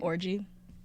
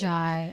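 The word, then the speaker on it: Orji: How do you say her last name? Orgy. No. But like orgy? I'm pretty sure. I even like YouTubed how to pronounce her name because I was like, I don't want to fuck it up, but like I'm pretty sure that's how you say it. Orjai.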